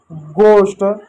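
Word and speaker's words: ghost: जैसे आवर ऑनेस्ट गोस्ट एच का उच्चारण आमतौर पर या तो हल्का होता है या तो साइलेंट होता है।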